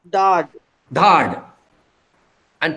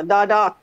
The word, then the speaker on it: dadat: Dad. And plural? Tumi ambo dadat. Dadat. Yeah, dadat. That I'm not hearing this final syllable. I'm hearing only dada.